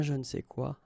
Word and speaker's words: je ne sais quoi: And then phonetically, of course, it's the same pronunciation. Okay. Un je ne sais quoi.